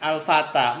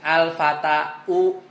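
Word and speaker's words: الفتى: Nah, kalau marfu bacanya gimana? Al-fata. Mansub al-fata juga. Majrur al-fata juga.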